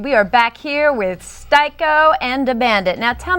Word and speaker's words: Sty-ko: know Theater history and actually changed the pronunciation from scko to styo knowing no one in the hip-hop game is going to say styo so shorten it to styo very very nice choice